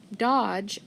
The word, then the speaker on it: dodge: between dodge and ball my first word dodge what do you see in it try graph d g e and remember the d is silent so cross it off